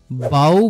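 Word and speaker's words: bow: কারণ এখানে এটার অর্থ চোখের জল নেক্সট ওয়ার্ড বাউ বা বউ বি ও ডব্লিউ এটার উচ্চারণ যখন বাউ তখন এটার অর্থ নতজানু হওয়া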